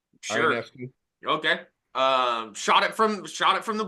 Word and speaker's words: Ionescu: I'm not gonna pronounce it. Ionescu? Sure. Ionescu.